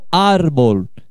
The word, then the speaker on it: árbol: Aí eu tenho, ó, árbol, que é como se fala árvore em espanhol, ó. Árbol. Ó a sílaba tônica. É a penúltima, né? É uma palavra grave. Uma paroxítona.